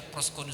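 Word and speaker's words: προσκυνέω: Itu bacanya proskuneo saya.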